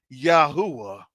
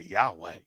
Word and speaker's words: Yahuwah: You weren't serving Yahuwah. They even say the name wrong. They say Yahweh, Yeshua.